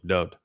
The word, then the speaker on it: Dowd: I can assure you that Isaiah knew how to spell and pronounce his name, Dowd. The wa in Dowd's name is pronounced just as it is in Yahweh's name, just as it is